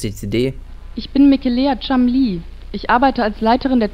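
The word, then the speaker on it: Cholmondeley: ja so richtig ausgesprochen er wird chamli gesprochen es ist ein englischer Name ich weiß er sieht nicht so aus wie er gesprochen wird lassen Sie mich Ihnen ein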